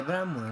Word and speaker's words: Brahma: É Brahman, né? Mas se escreve Brahma conforme.